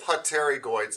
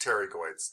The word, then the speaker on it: pterygoids: y g o i it looks like it's spelled with poterigoids but it's just pterygoids the p is silent okay okay mr singletary